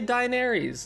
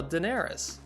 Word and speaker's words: Daenerys: Danny no no Diane you say die Nerys explain yourself no I'm saying dying because that's how you kind of spell it and sound it out but they you know how to say it they say it in the show Daenerys just like the same